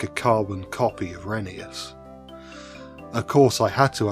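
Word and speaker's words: Rheneas: As previously mentioned, Jennings is the same type of engine as Reneeas or Renius since that's how you pronounce his name according to the railway series law.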